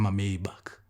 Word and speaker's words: Maybach: Daimler and Mr Maybach Here we pronounce it as Maybach Mr Daimler and Mr